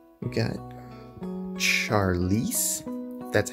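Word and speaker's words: Charlise: get scissors okay got scissors we got charlize that's how you pronounce it hopper he looks cool i like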